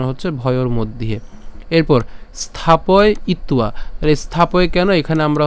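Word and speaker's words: স্থাপয়িত্বা: এখানে আমাদের অন্তস্থ আছে অন্তস্থ এর উচ্চারণ কার মত হয় উর মত হয় তো সেজন্য এর উচ্চারণকে কেমন হবে উয়া হবে তাহলে স্থাপয় ইত্তুয়া আবার বলছি স্থাপয় স্থাপয়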